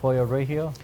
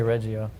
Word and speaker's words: Pollo Regio: you got burnt doing it was, how do you say it, pollo regio? Pollo Regio. I say Reggio, even though it's not the right way.